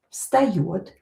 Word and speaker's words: встает: Here this V is located near unvoiced consonant. When voiced consonant located near unvoiced, it will become unvoiced too. So V will be pronounced as F here.